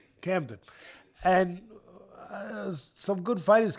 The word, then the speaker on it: Camden: Well, first of all, it comes from Cadman, New Jersey. Uh, am I saying it right? Yeah. Right. Camden.